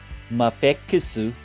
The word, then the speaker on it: Mafex: Trying out the Let's Go Bub stands with the Mafusu. That's Mafex pronounced in Japanese.